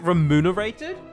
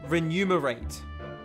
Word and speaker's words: remunerated: right renumerate okay now when I was having trouble pronouncing I was saying renumerate actually that's kind of more natural for me for enumerate when wait no I was I was putting the N before the m can't